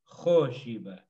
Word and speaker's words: Khoshiba: Like all of these days of the week, the accent is on the O. Khoshiba. Troshiba. And accents always go with a vowel.